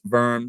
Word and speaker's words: Worms: English speakers because uh it looks like worms to us like the little creepy crawly insects in the dirt uh but it's actually it's pronounced verm so when you hear